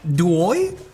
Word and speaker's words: DOIO: How do you pronounce that? DOIO?